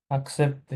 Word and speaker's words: accepter: এসি আক, accepter, আকসেপ্তে।